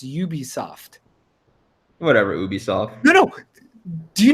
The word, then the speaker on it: Ubisoft: It stands for Ubiquitous Software. Oh. So that's why it's pronounced Ubisoft.